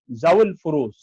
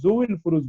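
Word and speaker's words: ذوو الفروض: 4 number হলো জাউল ফুরুজ। জাউল ফুরুজ এই শব্দটিকে অনেকেই জুউল ফুরুজ বলে, আসলে এটা উচ্চারণটা সঠিক নয়, এটা হবে জাউল ফুরুজ, ফুরুজ ওয়ালারা, জু মানে ওয়ালা।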